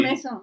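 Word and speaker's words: Maison: How do you pronounce that? Is it Mason? Noir wines. I should get this Mason. Yeah. Before we Mason. Yes.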